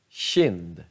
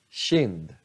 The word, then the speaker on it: kind: Bara K, K-I, sh, kind, sh, kind.